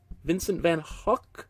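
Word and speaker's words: Vincent van Gogh: throwing up speaking so we say the Dutch G like an English h ah vant van Hawk Vincent van hwk I believe is that been how you might pronounce it I've I've seen number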